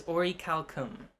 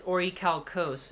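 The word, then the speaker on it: orichalcum: it in black cat google the pronunciation of the word it is ori calcum but really ah so yeah yeah and um but uh in the dub it's ori calcos in the sub it's ori calcum racist okay so it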